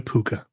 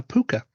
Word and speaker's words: Púca: Is it possible to survive an encounter with a puka?